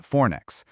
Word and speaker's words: Fornix: And yeah, it's pronounced Fornix.